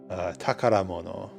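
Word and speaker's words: 宝物: believe this is treasure it is treasure but it's pronounced uh takaramono takaramono is still treasure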